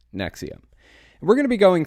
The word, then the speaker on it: NXIVM: episode is going to be talking about the Nexium cult that's how it's pronounced NX IVM it's pronounced Nexium we're going to be going through it a